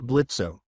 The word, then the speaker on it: Blitzo: Luna Carnival, is it true that you were adopted by said imp Blitzo? O is silent.